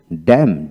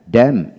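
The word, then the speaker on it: damn: কান্টেম তারপরে column column তারপরে সলাম সলাম এন উচ্চারণ হবে না তারপর আসেন ড্যাম ডি এম ড্যাম ড্যাম অটাম অটাম হিম হিম হিমনাল হিমনাল তারপর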